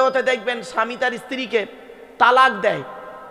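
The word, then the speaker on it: طلاق: স্বামী স্ত্রী হতে হতে দেখবেন স্বামী তার স্ত্রীকে তালাক দেয়। কি দেয়? জোরে বলুন। শব্দটা কিন্তু তালাক নয়, শুনে যান, আজকে হিন্দু মুসলিম সকলে শুনে যান, শব্দটা কিন্তু তালাক নয়। শব্দটা কি? শব্দটা হলো তলাক।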